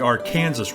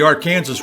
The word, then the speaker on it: Arkansas: the Arkansas River I make a point of pronouncing it the Arkansas River because this is how it is pronounced by kin Zients then and today from the banks of the Arkansas River the trail would follow the river for